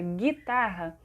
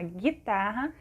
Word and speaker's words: guitarra: por exemplo gato e guitarra quando a gente pronuncia a palavra guitarra não aparece o sonzinho do né o jejum juntos né nessa palavrinha na guitarra o g1 é um dígrafo tá porque a